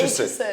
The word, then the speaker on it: Aitchison: It's Aitchison.